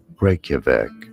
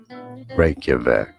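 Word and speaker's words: Reykjavík: We are looking at how to pronounce the name of the capital city of Iceland. How do you say it? Reykjavik. Reykjavik.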